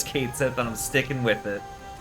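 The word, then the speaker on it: Cait Sith: I don't give a damn if they if the the remake calls him cat sheet or whatever because that's a terrible pronunciation of that name. He said Kate. The name is Kate set and I'm sticking with it.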